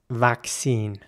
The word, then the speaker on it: vaccine: know in the comments in British English the word would be pronounced vaccine and again the a is pronounced like an ah vaccine in American English it